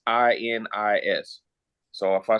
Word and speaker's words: Xinis: Her name is Paula Xinis. It's Xinis. So if I spelled her name wrong, I apologize.